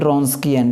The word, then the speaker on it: Wronskian: है रस्किन होता है देन रस्किन डबल यहां पर साइलेंट होता है ठीक है ऑफ वाव